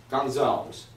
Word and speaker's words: Gonzales: Okay, brothers and sisters, now we're going to talk to Pastor Mark Gonzales. Am I pronouncing correctly? You pronounced it correctly.